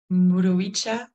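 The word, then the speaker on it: mburuvicha: J'ai pris quelques notes, mais je voudrais, avant cela, demander à Modesta, comment est-ce qu'on devrait prononcer la parole le mot Muruchipucha? Muruicha, ça veut dire leader.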